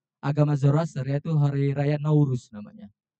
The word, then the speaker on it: Nowruz: Dan peringatan hari raya terbesarnya orang-orang Azerbaijan adalah hari rayanya agama Zoroaster, yaitu hari raya Nauruz namanya. Kalau bacanya Nowruz, tapi kalau kita bacanya Nauruz.